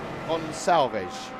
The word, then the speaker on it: Gonçalves: Right, we've got a battle between Benjamin Porteous Heath and Vinicius Gonçalves. Apparently, how you pronounce it? Yeah, Portuguese style.